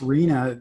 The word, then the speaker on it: RHNA: uh the arena numbers the rhna uh pronounced rina those numbers are going